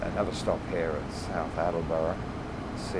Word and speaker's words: Attleboro: Attleboro. I pronounced it wrong. That's Attleboro.